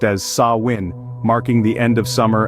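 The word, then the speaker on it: Samhain: harvest season culminated they celebrated a festival called samhan pronounced as saw win marking the end of Summer and the onset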